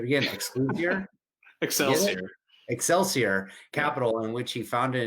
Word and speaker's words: Excelsior: cap i should have asked you how to pronounce that i'm probably it's okay excelsior it's called excelsior it is the state motto